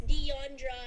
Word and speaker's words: Diondra: handle is there it's diondra i just spelled my the pronunciation of my name is d-e-y-o-n and also i